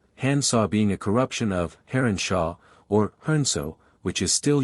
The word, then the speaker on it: heronshaw: being a corruption of heronshaw, or hernso, which is still used, in the provincial dialects, for a heron. In Suffolk and Norfolk it is pronounced harnsa, from which to handsaw is but a single step.